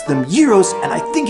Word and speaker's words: gyros: these sandwiches gyros like you do okay it rhymes with heroes I admit that heavyweight boxing champion Rocky Marciano